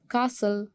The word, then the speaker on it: castle: castle, T is silent.